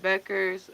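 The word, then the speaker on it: Bueckers: notice now when it comes to like Paige Beckers or however you say her last name is a little confusing.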